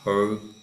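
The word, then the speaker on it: ὁ: So the whole here, you have what's called a rough breather over the top, not to be confused with something going the opposite direction.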